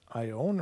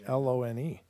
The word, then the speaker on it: Ione: Is this Ione or Lone? I believe it's I-O. I-O. I-O-N-E? So it's Ione, yeah.